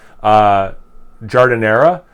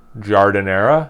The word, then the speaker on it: Giardiniera: Giardiniera, like it comes in a jar. Giardiniera, even though it's spelled differently than it's not phonetically spelled.